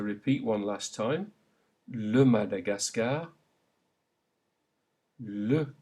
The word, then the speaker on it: Madagascar: In French, this is pronounced A, as in le Madagascar. Say it aloud. Le Madagascar. Note that all of those A's are pronounced A.